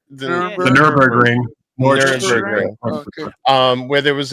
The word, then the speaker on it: Nürburgring: The Nuremberg? The Nürburgring.